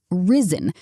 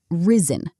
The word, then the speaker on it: risen: Risen, the second syllable is unstressed. Risen, not rise.